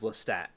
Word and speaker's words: Lestat: Alright, so the pronunciation's Lestat, if I said it wrong.